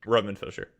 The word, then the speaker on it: Fischer: Am I pronouncing your surname Yeah, correctly? Roman Fisher.